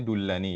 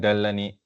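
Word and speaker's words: دلني: Tadi yang dibaca ya kata ini dibacanya dullani ya. Dulani. Ya Rasulullahi dullani ya. dullani ya. Kenapa bukan dalani ya? Karena dia dari fi'il apa? Fi'ilnya dalla yadullu ya.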